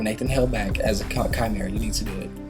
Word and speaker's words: Chimera: it's a silent I don't know but it's Chimera it's not you don't pronounce it Chimera or it's not spell with a K okay